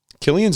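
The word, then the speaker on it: Cillian: out chilly and murphy killian's in it chilling it with murph chilling it he's either chilling it or he's killing it depending on how you pronounce his name killing it every time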